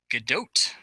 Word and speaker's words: Gadot: phone was terrible Paul how is it actually pronounced GDOT correct and we know that because of her